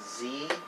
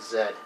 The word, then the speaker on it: Z: where you live uh in America they call it Z in Canada they call it Zed and the way you